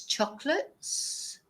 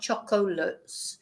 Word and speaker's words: chocolate: to turn the so in English it's chocolates we don't even pronounce the O it's not chocolates it's chocolates and in whereas in Spanish it's chocolate yes this is a